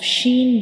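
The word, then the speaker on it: ش: So in the case of sheen, we will also touch the center of the tongue to the upper hard palate.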